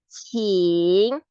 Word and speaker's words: 请: So it will sound like my last name, Chi plus ing. 请 please. So 出 will be like 出. Yes. Plus you. 出. 穿. Yes. 请穿戴. 请穿戴.